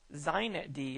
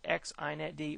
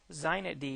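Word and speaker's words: xinetd: use on Linux today zet D is that's how they pronounce this with an x xet d or zet D is prom predominantly used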